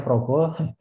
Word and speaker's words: Praba: Pak sujud tadi jadi Nama saya ditulisnya praba tapi memang diucapkannya Progo ya jadi yang mau saya